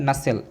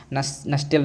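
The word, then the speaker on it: nutshell: इन डॉट डॉट डॉट नसेल। ठीक है, इसे आप नसेल पढ़ेंगे ना, नस्टेल नहीं पढ़ेंगे, टी यहाँ पर साइलेंट है।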